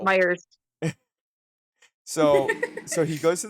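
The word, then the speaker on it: Meijer: It says Meyer on the front, but they pronounce it Myers plural. Myers.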